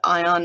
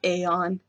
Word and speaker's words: Aion: I know it's spelled how it's spelled, but in game the NPCs call it Ion, not Aeon.